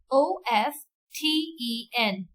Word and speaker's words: often: is honest say it with me honest honest o f t e n this word is often often often so that's